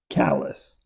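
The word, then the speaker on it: Callis: C-A-L-L. It's like C-A-L-L-E-Z, Callies. Yeah. That's what it sounds like, but it's C-A-L-L-I-S. Callies. Okay, great. I don't know why I had an I in here, like C-A-L-L-I-E-S.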